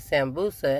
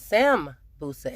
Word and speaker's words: Sambusa: So I asked my waiter yesterday, I said, how do you pronounce this? And she said Sambusa. And I said, well, when I looked it up online, it says Sambusa, S-A-M. But she said it's S-A-N.